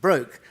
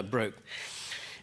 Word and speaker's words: Brooke: And the reason was that HMS Brooke, named after Philip Brooke of the War of 1812, but the ship was always pronounced Broke, so I will call her Broke.